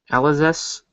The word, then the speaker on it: Alizé: Alizés. I forgot how they say it. I say Alizé because it's kind of like the French. The French would not pronounce that S on the end of it.